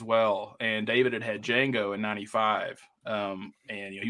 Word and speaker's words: Django: a Crosby but he's he spelled with the D with the proper D in the front which is silent gotcha got after after